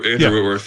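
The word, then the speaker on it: Whitworth: Rams Whitman Wworth yeah yeah uh Witworth is that is that how you say his name yeah Andrew Witworth yeah yeah he was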